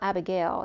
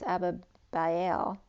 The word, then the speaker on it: Abihail: It's not Abigail, it's Abihail, or Abihail.